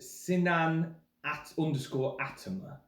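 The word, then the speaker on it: Sinan Atamer: Mine is, I believe it's pronounced Sinan _Atama.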